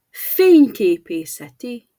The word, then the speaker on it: fényképészeti: Finally, a longer one. Fényképészeti eszköz. Fényképészeti. Photographic device. In English, we'd say photographic devices. But in Hungarian, it's still fényképészeti eszköz. The first syllable leads the way, and the rest of the word follows naturally.